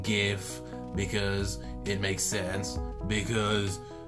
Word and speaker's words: GIF: in English so technically if the Creator decided that it's pronounced jiff then it should be pronounced jiff but more importantly if